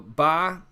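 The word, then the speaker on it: باء: be the B so this is called a BA so BA just a typical B sound nothing special about it the way that I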